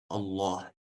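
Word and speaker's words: الله: Буква лям бывает твердая, единственное в слове Аллах. То есть мы произносим ее через О, Ла, Аллах.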